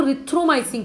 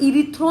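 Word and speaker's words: erythromycin: इसको रिथ्रोमाइसिन कहते हैं, इरिथ्रो नहीं कहना, ई इज साइलेंट, वो वहाँ पे क्या है, साइलेंट है।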